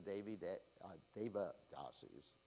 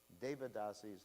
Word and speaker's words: devadasis: concerned which was teaching the david deba dasies i usually pronounce it wrong devadasis had a dance and